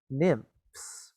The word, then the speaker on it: nymphs: there were beautiful names the y here sounds like an eye okay sounds like an eye right okay right so in those days there were beautiful nymphs who lived uh who